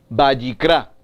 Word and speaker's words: Vayikra: Entonces, entendemos que el libro de Levítico, en hebreo, su pronunciación, Vayikra, y significa y lo llamó, y llamó, y llamó.